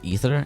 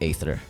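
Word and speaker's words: Aether: of ether and yeah it's actually pronounced Rivals of ether and not ather I'm not happy about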